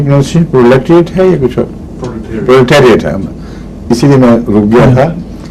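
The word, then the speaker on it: proletariat: کی اصلاح کر لے، پرولیٹریٹ نہیں ہے، پرولیٹیریٹ۔ اور وجہ یہ ہے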